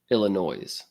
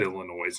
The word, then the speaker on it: Illinois: respond to the word Illinois the S is is is silent yeah I know that